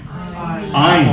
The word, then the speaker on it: Ayn: Is it Anne or Ayn? I never know. Well, I don't know. How do you pronounce that name? Ayn.